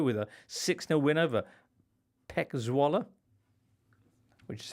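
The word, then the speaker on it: PEC Zwolle: in a row with a 60 win over pek zalla which is how they're pronounced and a 6-1 win for Atlanta against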